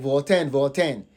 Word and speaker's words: Voltaian: and I was like Voltaian. Please, it is Voltaian, like Ghanaian.